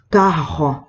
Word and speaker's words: carro: Pássaro, carro, tampoco es una R con pronunciación fuerte. Nosotros estamos acostumbrados a decir ferrocarril, sí, por ejemplo, lo enfatizo, pero en portugués va a ser carro, no suena una R fuerte, es una R afrancesada, resbalosa, digo.